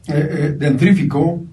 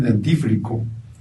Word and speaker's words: dentífrico: letra en una palabra decimos dentrífico en lugar de decir dentífrico decimos hoy que están